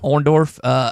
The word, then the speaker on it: Orndorff: Orndorff, early days of WWF.